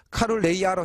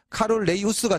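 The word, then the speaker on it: 카눌레이우스: 그게 카룰레이우스라 해줬고, 카룰레이아로 해줘요. 똑같은 거, 사람 이름이야. 카룰레이우스라는 사람이 있었어요. 그래서 그게 원래 라틴어 발음에 가깝게 발음하면 카룰레이우스가 되는 거고, 그걸 영어식으로 발음하면 카룰레이아가 되는 거야.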